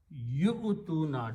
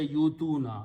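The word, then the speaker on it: يُؤْتُونَ: Yu-tuna, don't say you-tuna. You-tuna is wrong. If you say you-tuna, you're pronouncing waw. Pronounce yu-tuna. Don't pronounce this waw, it is just written there.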